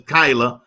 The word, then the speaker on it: Kyla: I'm so used to saying Kayla, but it's KYLA. But you won't get late for dinner. I want to get your name right. So it is KYLA. Yes, sir. I said it right that time because there's no A in your name.